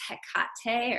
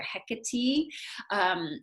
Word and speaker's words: Hecate: of a language nerd did you ever notice how we in america or canada if you're in canada i think you probably do this too or in the uk how we always accent the second syllable of something and so i i was listening to all these different podcasts and lectures and things and they were calling her hikati and i was like